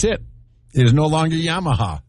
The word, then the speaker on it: Yamaha: how to pronounce it this y mama is that what it says no it's Yamaha it looks like y